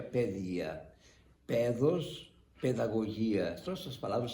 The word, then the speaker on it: paideia: Porque a palavra paideia em grego se pronuncia pedia.